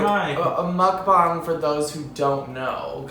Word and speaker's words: mukbang: Mukbang? Mukbang. That's how it's pronounced, I think.